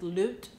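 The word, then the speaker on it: لوط: story or the the in Arabic it is loot loot um L instead of lot that's how it is um pronounced in Arabic but the story of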